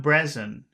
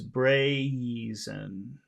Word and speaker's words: brazen: that behavior yes the brazin brain don't it's not Breen so this is that sound that you have a lot of difficulty with it's braen so bra great great bra the